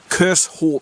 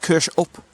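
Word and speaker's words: Kershope: in water B right so there you have kers up now when I first started coming here I was pronouncing it curse as way Brit would but um one of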